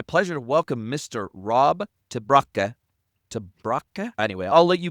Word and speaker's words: te Braake: And yeah, my family name it's a disaster for non-Dutch speakers, so it's pronounced Traa.